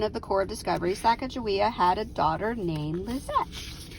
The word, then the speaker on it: Sacagawea: clark's book was published the publisher spelled sacagawea with a j instead of a g leading people to mispronounce her name and number eight shashani